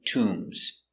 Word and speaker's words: tomb: Egypt they have many tombs tomb T to m t Tom has a long ooh so we make the sound Tom remember the position is